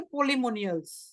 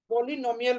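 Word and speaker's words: polynomial: अगर ये से दिया है तो हम इस सेट को बोलेंगे पोलिमोनियल्स, पोलिनोमियल बोलते हैं, पोलिमोनियल नहीं, आई एम सॉरी, मल्टीमोनियल नहीं, मल्टी नॉमिनल, मल्टी नॉमिनल, ठीक है, स्पेलिंग एरर्स हो जाता है, कोई दिक्कत नहीं है।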